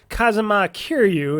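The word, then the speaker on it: Kiryu Kazuma: erased his name, starring Kiryu, Kazuma, however you say his name, or it's Kazuma Kiryu if you want to go the Japanese way. You always say the last name then the first name, so he's back.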